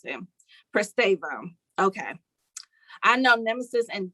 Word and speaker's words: Pristavia: Pristavia. That's how you pronounce it. Pristavia.